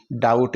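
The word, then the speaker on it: doubt: रहा है तो साथियों इस बी को हम साइलेंट कर देते हैं डी ई टी डेट ही हम इसका उच्चारण करेंगे इसी तरह डीओ यू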